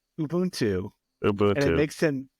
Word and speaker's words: Ubuntu: this podcast absolutely gets angry whenever somebody says Ubuntu it's Ubuntu UB and it makes him absolutely mad whenever